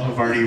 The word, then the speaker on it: Havarti: And now he's just another brick of cheese in the wall, and as well, Havarti rhymes with party.